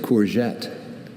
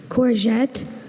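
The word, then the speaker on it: courgette: There's corette and corette. Can you please say the uh alternate pronunciations again? Corette. Corette.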